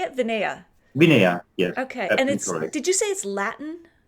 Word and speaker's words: Vinea: Vinea.